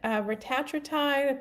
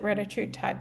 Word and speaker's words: retatrutide: But yeah, retatrutide is also supposed to be fantastic for the liver. And I know some people pronounce it retatrutide, but Dr.